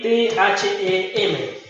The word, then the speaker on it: them: Y también recordarles que gran parte, la mayoría de las TH en inglés, cuando parten al principio de la palabra, se pronuncian como una D de dedo, de nosotros, con la lengua entre los dientes. Pasa a ser them.